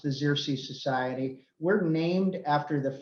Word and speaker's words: Xerces: few of you who don't know what the zirsi society is and that's how it is pronounced the zirsi society we're named after the first butterfly known